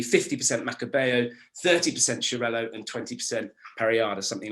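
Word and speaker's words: Xarel·lo: basically quite simple then you get chirello which is quite an odd it's spelt x-a-r-e-l hyphen-l-o it's quite a strange one but it's a catalan name and this is more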